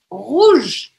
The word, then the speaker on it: rouge: Outra regra que a gente viu é que a letra E ao final das palavras, ela não é pronunciada. Então, eu vou parar o som aonde? Nesse G aqui, que vai ter um som como se fosse um J, tá?